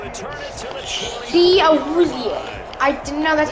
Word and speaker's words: Awuzie: Awuzie. I didn't know that's how you pronounce Got a it.